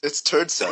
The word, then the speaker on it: Terdsak: How do you really pronounce that name? That's how you pronounce it. Yeah, it's Terdsak. Is it really Terdsak? Like, honestly, yeah. I was getting shit earlier when I said Terdsak, and I said that's literally the way you pronounce his name.